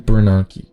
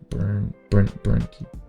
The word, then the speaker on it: Bernanke: 2009, Ben Bernanke. Bernanke.